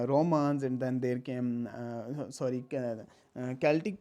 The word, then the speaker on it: Celtic: and then there came Celtic people were there, or Celtic you can also pronounce it.